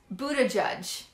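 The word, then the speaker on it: Buttigieg: times so anyways his um it is pete buddha judge anyways he's talking to pete he basically calls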